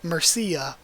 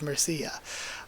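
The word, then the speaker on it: Mirchella: like I always say Marche I'm pretty sure it's supposed to be Murcia but I always say Marche instead of Murcia so they're totally things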